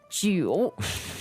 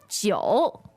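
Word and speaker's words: jiǔ: is j i u you might be tempted to read it as je but actually there's a hidden o in the pinging i u ah yes so Jo gi gi okay welcome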